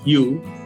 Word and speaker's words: hue: melingkar itu disebut dengan hue. Tulisannya hue, semoga saya bacanya benar ya, hue. Benar ya, hue, kamu kan betul. pernah tinggal di Amerika. Ya, hue betul, Pak.